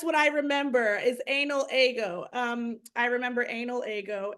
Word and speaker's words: Ego: and my name is ago and like I didn't want people I could have gone with an E like but then I feel like people like excellent pronounced ago so I was trying